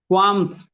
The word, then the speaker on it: qualms: एक word use करना, क्वाम्स, QUALMS, एल लगेगा लेकिन एल का प्रोनाउंसिएशन नहीं होता है, बोलो क्वाम्स, क्वाम्स, yes Subbulakshmi, commit to